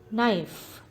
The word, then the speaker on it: knife: in this word castle knife the letter k is silent in this word knife question three write